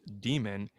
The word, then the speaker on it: daemon: latin daemon or demon d-a-e-m-o-n pronounced demon that's a tutelary deity